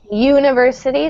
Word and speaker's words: university: uncountable so no article University starts with a y sound a consonant so uh very good